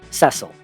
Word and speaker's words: Cecil: is the main character Cecil and yes that is the official pronunciation I'm sorry every other